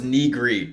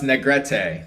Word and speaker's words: Negrete: I always thought it was Negrete. No, it's Negrete. That's how it's pronounced.